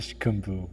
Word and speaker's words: Ishkambu: You have to have the K in there. Ishkambu.